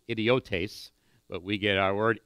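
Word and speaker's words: ἰδιώτης: it's actually pronounced idiotes, but we get our word idiot from it.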